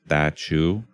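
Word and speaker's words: Teochew: And I'm going to mispronounce it, but it's roughly pronounced like Teochiew.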